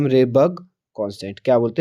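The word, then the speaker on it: Rydberg: और आर को हम किससे डिनोट करते हैं, रेबर्ग, RYD, डी इसमें साइलेंट रहता है दोस्तों, तो रेबर्ग कांस्टेंट।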